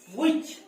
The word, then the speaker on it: which: which नुहे कोन सेटा which एठी h टा साइलेंट रहइबो मन रखिबो h टा एठी साइलेंट रहे which नुहे कोन which